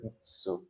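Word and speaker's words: つ: 4টি বর্ণের মধ্যে একটা বর্ণ হচ্ছে শি, তারপরে এখানে একটা বর্ণ আছে, এটা হলো চি, আরেকটা বর্ণ হলো তৎসু, বা অ্যাকচুয়ালি উচ্চারণটা হবে ইৎসু।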